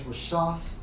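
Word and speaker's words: רֶשֶׁת: the brother's lesson, and it's Strong's H 7568, pronounced as Rashaf, and definition 3 of leaders leading people to sin.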